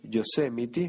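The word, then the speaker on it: Yosemite: sí Ahora cuando salga yosemity creo que lo dije bien yosemity Oh Cómo cuesta pronunciar eso pero sí así se pronuncia Ahora cuando salga yosemity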